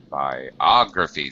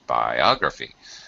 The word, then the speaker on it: biography: Biography. The O here gets the main stress in the sentence. Biography.